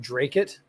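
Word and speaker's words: Dracut: It's pronounced Drake-it?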